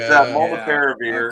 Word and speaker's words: molnupiravir: It's molnupiravir.